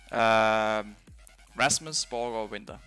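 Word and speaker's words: Rasmus Borregaard Winther: How's your full name pronounced? Rasmus Borgerwinter.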